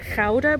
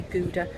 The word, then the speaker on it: Gouda: we pronounce it as chowder but it's i think most people say gouda like the cheese gouda or food cheese so